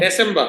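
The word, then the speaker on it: Dezember: December, হ্যাঁ, December, এই যে আমরা যেটা জানি কি শব্দের লাস্টে যদি ই আর থাকে সেটা আর মতো উচ্চারণ হয়, তাই না? দুই শব্দের শেষে কি আমার ই আর থাকে, December, এর মতো উচ্চারণ হয় বা আর মতো উচ্চারণ হয়, যেমন সেপ্টেম্বর, অক্টোবর, নভেম্বর, ডিসেম্বর। আর অনেকের জায়গায় দেখবেন যে আরটা উচ্চারণ করে, কোনো সমস্যা নেই, চাইলেও করতে পারেন।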